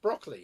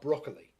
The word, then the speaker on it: Broccoli: For years, I thought that the guy that did all the Bond films was Albert R. Broccoli, but I found out it's Broccoli, even though it's spelled broccoli. It's Broccoli.